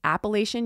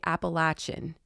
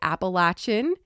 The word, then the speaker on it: Appalachian: ignorant in the South if you ever say Appalachian you have to say appalachin um so I'm just letting you guys know you will hear people say appalachin in the South that is their pronunciation for